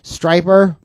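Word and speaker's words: Stryper: Striper rhymes with hyper.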